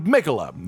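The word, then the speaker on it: Miquella: And now, without any more beating around the bush, this boss is Melania Blade of Mikola, who it still really bothers me that his name is pronounced that way.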